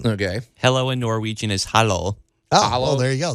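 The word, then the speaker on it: hallo: really small kitchen okay hello in Norwegian is hollow ah hello there you go that's easy how do you spell that h-a-l-l-o okay A little easy enough Hollow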